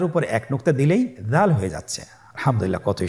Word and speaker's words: দাল: দাল হরফটিও বারিক হরফ। উচ্চারণ করার সময় অবশ্যই 3 আলিফ টেনে পড়তে হবে। দালের মাখরাজ হলো জিহ্বার আগা সামনের উপরের 2 দাঁতের আগার সঙ্গে লাগিয়ে উচ্চারিত হয়।